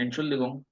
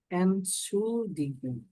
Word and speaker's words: Entschuldigung: প্রথমে বলেন এনশুলদিগুং, excuse me বা ফেরসায়ং, এটার মানে হলো এনশুলদিগুং, এটা একটা সমার্থক শব্দ।